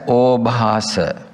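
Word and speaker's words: obhāsa: first one illusion illumination obas we pronounce it as obas while we are meditating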